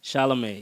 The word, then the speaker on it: Chalamet: Timothy Chalamet, did I pronounce his name right? Chalamet, yeah.